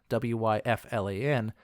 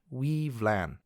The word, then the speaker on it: Wyflin: So, for example, the name Wyflin to you might sound like Wyflan, but Wyflin is actually pronounced Weevlan. So the W there makes a W sound, the Y actually makes an EE sound, the F sounds like a V, and LAN just sounds like LAN.